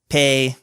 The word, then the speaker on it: Peay: It's Peay. So Pay.